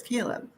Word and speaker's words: Caleb: Is that how you pronounce the name, Michelle? It's Caleb. It is? Mhm. Because I've been calling him Kyle the whole time.